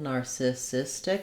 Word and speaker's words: narcissistic: bowel narcissistic or narcissistic i think for most people thinking of it as a schwa is going to help them get the rhythm correct and be quick enough on that syllable i would also suggest starting on the stress syllable here cystic narcissistic that's going to help you to be able to get that rhythm correct as well and of course with